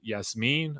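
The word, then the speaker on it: Yassmin: little bit older dude Thomas y Yas me I've seen that's how the Utah staff pronounces his name and yeah really athletic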